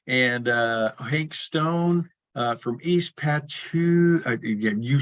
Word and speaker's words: Patchogue: Home Tonight is the band, and Hank Stone from East Patchogue.